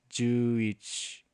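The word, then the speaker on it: 十一: So you can just write the character for 10 and the character for 1, and that becomes 11, which is pronounced Juich.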